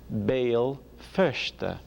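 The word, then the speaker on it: Béal Feirste: Belfast is a Gaelic name. Bale Fershte, Belfast.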